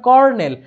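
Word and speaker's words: colonel: কর্নেল, যদিও আমরা বলি কর্নেল, কিন্তু উচ্চারণ হবে, মানে স্পেলিংটা হবে COLO, ঠিক আছে? উচ্চারণ কিন্তু কলোনেল হবে না, উচ্চারণ হবে কর্নেল, আর এর মতো উচ্চারণটা হবে, বাট স্পেলিং হবে এরকম।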